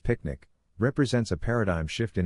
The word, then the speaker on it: PQNK: PQNK Peter Kratini Zam Kashadakiari pronounced picnic represents a paradigm shift